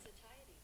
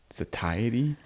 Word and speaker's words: satiety: It's not going to sound how it looks phonetically. sacy. Wait, what? Just what? Satiety. Satiety.